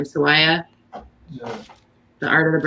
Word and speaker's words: Sawaya: How do you pronounce his last name? Sawaya.